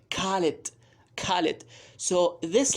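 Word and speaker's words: خالد: So for example, Khalid, they say Khalid.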